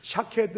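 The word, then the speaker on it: שָׁקֵד: 그런 으 재미가 있어요 이 살구나무 라고 하는 것과 지켜보다 라고 하는 히브리 말이 발음이 거의 비슷합니다 여기서 예레미야가 그 가지를 보았다고 대답할 때 살구나무 라고 옮긴 히브리어 명사 는 샤 케드 라고 하는 히브리어를 씁니다 이스라엘 땅에서 자라는 나무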